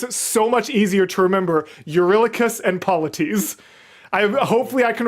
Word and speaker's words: Eurylochus: You really cussed. Eurylochus.